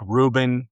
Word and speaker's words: Reuben: Uh like Reuben, it's a V. There's no B.